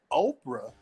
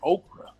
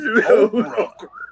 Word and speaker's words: Oprah: You know, I remember when Oprah, and I know all y'all know who Oprah is. I know you know. People couldn't even pronounce her name. People were calling her Okra because she was just a